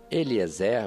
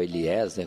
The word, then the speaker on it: Eliezer: Eliezer ou Eliezer, conforme a acentuação das sílabas, que deveria buscar entre os parentes uma esposa.